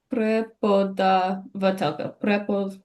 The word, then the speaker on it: преподавателка: Prepo da va telka. Prepodavatelka. Prepodavatelka. Elga, 6 syllables.